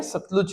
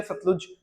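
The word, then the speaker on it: Satluj: अलग हो सकता है क्योंकि हम लोग सतलुज बोलते हैं तो बहुत जगह पे आपको स्पेलिंग मिल जाएगा एस ए टी एल यू जे सतलुज ठीक है तो थोड़ा सा इंग्लिश के प्रोनंसिएशन और हिंदी के प्रोनंसिएशन में थोड़ा सा अंतर है तो सुतले या सतलुज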